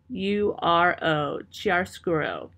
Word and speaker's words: chiaroscuro: a use of something called chiaroscuro, and I'll spell that for you. It is chiaroscuro, chiaroscuro.